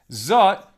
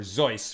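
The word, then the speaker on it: זאת: Sharon, Zot, this, in the feminine form. What specifically is zot in reference to, or zois, right, in the more Ashkenaz pronunciation?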